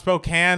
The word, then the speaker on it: Spokane: here around 13 and it's pronounced Spokane not Spokane sorry Mna sorry you